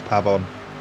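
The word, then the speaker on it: Pabón: The correct pronunciation of his name is Pavon. Pabon, okay.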